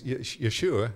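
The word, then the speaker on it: ישוע: Okay, but as far as the actual name, because a lot of people don't realize that's not the exact correct pronunciation for Jesus, right? It's Yeshua is the Hebrew.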